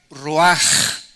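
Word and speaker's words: רוח: Esta palabra vientos es la palabra hebrea roach, que se pronuncia roaj. La CH en el hebreo se pronuncia como J, y que es la palabra espíritus.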